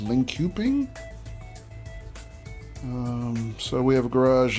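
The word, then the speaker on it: Linköping: it's right here uh Lincoln ping or however it's pronounced I think it's actually pronounced link cuping so we have a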